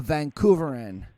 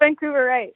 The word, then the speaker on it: Vancouverite: be like, I'm a Vancouveran? Is that how you say Vancouveran or Vancouverian? Or how do you say that? I'm pretty sure it's Vancouverite.